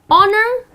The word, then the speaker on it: honor: of honor so again honor the H here which is that the beginning of the word goes silent and the correct pronunciation is honor the maid of honor ok